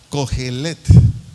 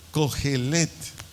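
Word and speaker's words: cojelet: Del vocablo griego con C de coco y J, cogelet, así como se oye, cogelet, C-O-J-E-L-E-T-T-T, acento en la última E, cogelet.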